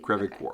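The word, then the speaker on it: Creve Coeur: Crevecoeur. Okay, that's how you pronounce it.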